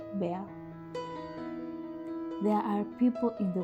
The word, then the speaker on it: Bar: That's the nickname she and my grandparents used for me when I was growing up, often shorter to Bar, pronounced Bear.